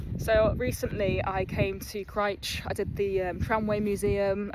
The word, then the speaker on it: Crich: And when I was at the tramway museum, I did ask the woman behind the desk reception how to pronounce Crich. And she told me it's Crich, but I still said Crich without even knowing on all my videos that I made.